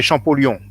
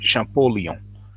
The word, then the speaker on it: Champollion: Now in French we say Champollion, but in English you pronounce it Champollion.